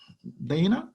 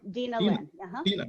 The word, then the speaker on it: Dina: Okay, let's start with, your name is pronounced as Dana, right? Dina. Dina, yeah.